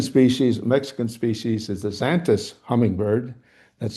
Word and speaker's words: Xantus: A second species, Mexican species, is the Xanthus hummingbird. That's spelled Xantus, Xanthus.